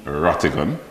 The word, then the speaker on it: Rattigan: His name is Anthony Rattigan. I got that pronunciation correct?